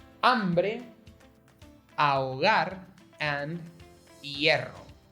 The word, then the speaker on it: hambre: encounter words like hombre, hambre, ahogar, and hierro. Hombre, not hombre. Hambre, not hambre. Ahogar, no. Ahogar. So, notice how there's an H in these words, but there's no difference in their pronunciation?